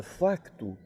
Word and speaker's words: facto: mas por exemplo na na palavra facto o ser é pronunciado sempre foi pronunciado lá sempre lá sim e por nós outros nunca agora ele o os portugueses distinguiam tanto na fala quanto na escrita o facto nós outros no Brasil não pronunciamos este ser ess ser para nós sempre foi mudo e daí ter preponderado